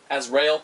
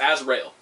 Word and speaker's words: Azrael: your prowess with monsieur asriel as rail i need this i need to i need to start pronouncing it correctly it's azrael i need to just